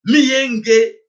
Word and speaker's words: Miyenge: Donc pour votre information que mboka auto bengi na kombo miyenge. Voilà, c'est comme ça qu'il faut prononcer cela.